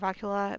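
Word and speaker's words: Rawl'kha: But I always call it Rockula because it sounds like Ricola, and I think that, it's funny because, well, it sounds like, you're sick and eating a cough drop.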